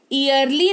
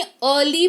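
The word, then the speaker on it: early: जैसे इसको ईयरली नहीं अर्ली पढ़ेंगे। क्या पढ़ेंगे? अर्ली पढ़ेंगे, जिसका मतलब होता है जल्दी।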